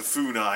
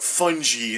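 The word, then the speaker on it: Funai: forever that was a fonai and I was like and I mispronounce it as like fungi instead of reading as fonai because I I don't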